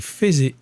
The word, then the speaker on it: faisait: Ça s'écrit faisait, mais ça se dit faisait.